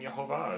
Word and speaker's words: Yehovah: I've actually come to start accepting Yehovah as the true pronunciation.